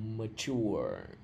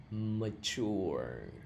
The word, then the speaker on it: mature: Like me, it's not mature nha, cái này là mature. Mature.